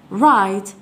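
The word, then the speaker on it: write: اذا لون لون اذا عندما نطقت الرايت وكان الدبليو غير موجوده ايضا قاعده جديده من اللغه الانجليزيه اذا رايت معناها اكتب لا ننطق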